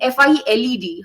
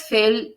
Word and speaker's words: filed: So when you were reading in a go, you pronounced it as felled.